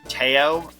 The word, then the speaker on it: Tao: And then we'll hear um here we will uh heal towel. I believe her name is actually pronounced Teao, but I call it I call her Tao.